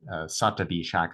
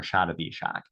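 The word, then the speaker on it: Shatabhishak: Some pronounce it Satabishak or Shatabishak.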